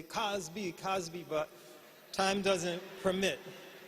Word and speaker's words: Cosby: If were not for time, since Cosby rhymes with Ali, we would say Cosby, Cosby, but time doesn't permit.